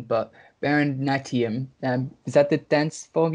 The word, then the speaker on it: Bharatanatyam: And correct me if I'm pronouncing it wrong, but Bharatanatyam, is that the dance form you learned? Bharatanatyam.